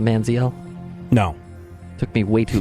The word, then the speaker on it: Manziel: would be where I land on the Johnny Manziel thing.